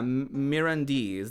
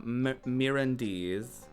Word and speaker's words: Mirandese: Oh yeah, Mirandese. That's how you would say that. Mirandese.